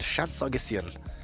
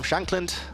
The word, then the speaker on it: Shankland: Shan Sagian. There we go. Sam Shankland. I mispronounced his name.